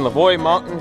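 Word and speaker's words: Leveaux Mountain: that looks good all right we're in between lavoy mountain that's how you pronounce it and uh holberg so beautiful day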